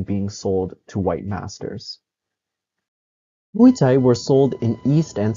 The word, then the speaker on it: mui tsai: The popularized pronunciation of these characters follows Cantonese rather than the Mandarin Meizi. Another term that was occasionally used in sources was jufa or pig flowers. Mui Tsai broadly referred to young